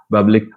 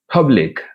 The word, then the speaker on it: public: ah aspirated public or many people say public it is not public it is aspirate public uh second one back